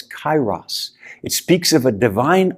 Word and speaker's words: kairos: on him and so the word paul uses when he says make the most of your time is not pronounced now it's kairos it speaks of a